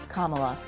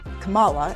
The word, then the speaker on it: Kamala: that just stop Congressman the vice president pronounces her first name commala you mispronounce it do you do that on purpose no ma'am I don't know how she pronounces it I've never this is the first time anybody's ever ever told me that how did I say it you said Kamala and it's Kam she